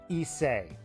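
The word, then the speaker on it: Issei: Also, it's pronounced Isay. I'm sticking with Isai.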